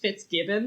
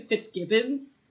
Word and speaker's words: FitzGibbon: the laura secord episode i mispronounced fitzgibbon the whole time i kept calling him fitzgibbons there's no s at the end oh okay so for